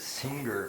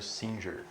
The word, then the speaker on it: Singer: mim ultimamente do peter singer como eu vi uma galera pronunciando também vi outras pessoas pronunciando singer e o particularmente prefiro singer porque a gente fica parecendo que é pedro cantora em português você que a gente